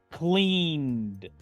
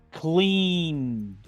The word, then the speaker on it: cleaned: En pasado simple es cleaned, cleaned. Pronuncio la ed como una D, dejando esta E muda.